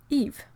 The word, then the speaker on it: Yves: confusing I have an uncle whose name is Eve in French you know why ves and in French it's pronounced Eve so I've always had